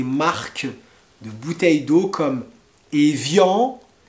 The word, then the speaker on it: evian: de bouteilles d'eau comme evian evian donc ça c'est de l'eau plate et vian comme les accords d'evian qui mettront fin à la guerre d'algérie vous avez les bouteilles